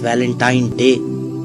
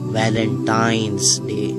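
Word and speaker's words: Valentine's Day: है अब आप इस वैलेंटाइन डे के नाम पर गौर करें इसे जो आम कहा जाता है यह वैलेंटाइन डे है लेकिन हकीकत में जो इसका प्रोनाउंस एशन है वह है वैलेंटाइंस डे य एक वैलेंटाइन वाला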